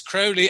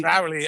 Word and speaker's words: Crowley: alist Crowley personally and it's it's crowy as in holy crowy Crowley as in FY and